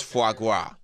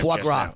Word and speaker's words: foie gras: Okay, how to pronounce foie gras. I think I said it real good that time. Foie gras. It's, there's an R in it.